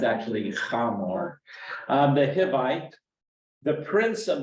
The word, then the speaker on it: Hamor: Yeah, it's actually Hamor.